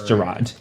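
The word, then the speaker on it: Jarad: it's Gerard. Okay. Or Jared, I don't know how to pronounce it.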